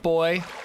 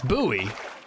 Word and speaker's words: buoy: TRMZ calls it a life boy. It's buoy. Would you look at that?